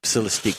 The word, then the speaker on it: Celestiq: that's the one I was talking Celestic? about. Celestic, yeah. Saran wrap. Celestique. The $300,000 hand-built fastback sedan scheduled to begin production in December. Celestique.